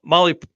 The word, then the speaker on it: Mahle: And for the podcast listeners and everybody else out there, Molly is spelled Mahle when you're doing that search.